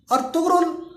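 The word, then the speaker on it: Ertuğrul: तुर्की जबान में गैन को साइलेंट पढ़ते हैं तो इसलिए अर्तुगरुल पढ़ा जाता है, और उर्दू में हम लोग रे को ज्यादातर साइलेंट पढ़ते हैं तो इसलिए हम इसको अर्तुगरुल पढ़ते हैं।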